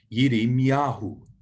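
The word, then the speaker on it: ירמיהו: Then the word for Jeremiah, Jeremiah's name in Hebrew is Yirmiyahu, Yirmiyahu. So have a go at pronouncing that, Yirmiyahu.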